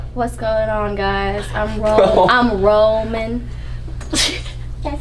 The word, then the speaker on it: Roman: I'm Roman.